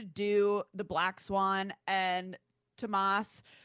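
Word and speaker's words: Thomas: So, remember the scene where the where she's like trying to do the black swan and Tamas looks to the S is silent uh looks to the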